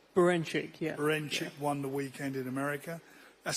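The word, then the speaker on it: Berinchyk: I've got to pronounce his name right. Beranchyk, yeah.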